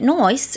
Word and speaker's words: nice: If you've watched Kath and Kim in Australia, you'll know that Noice is another way of pronouncing nice.